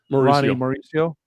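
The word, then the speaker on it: Ronny Mauricio: Ronnie Mauricio.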